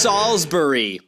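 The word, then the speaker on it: Salisbury: It's pronounced Salsbury. Stupid.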